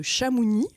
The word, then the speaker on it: Chamouni: Euh on peut citer la première expédition touristique par deux anglais aux glacières de Chamouni à l'époque, on le on le prononce ainsi, euh en 1741.